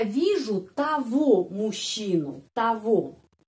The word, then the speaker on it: того: Я вижу того мужчину, того, G pengucapannya v, ya, kita sudah tahu. Ada seperti itu kasus yang G. Я вижу того мужчину, jadi того membandingkan dengan nominatif tot. Ya, tot, jadi kita menulis togo, tapi ucapannya того.